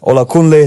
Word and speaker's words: Olakunle: His name is, correct me if I'm wrong, Olakunle. That's how you pronounce it. Perfect. Olakunle.